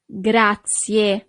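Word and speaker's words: grazie: Gracia. So you really need to pronounce the last letter E in English, but the letter E in Italian is E.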